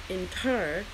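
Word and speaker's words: Netjer: Kemetic people call the one all divine by the Nubian hierophonic name Inter, pronounced Inter.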